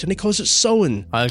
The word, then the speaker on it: Samhain: Bill O'Hurley, Irish man himself, he actually pronounces Samhain the correct way, Samhain. Does he? Which he does, yeah. So he's correcting the record because Dr. Loomis in the original Halloween and the sequel, he says Samhain.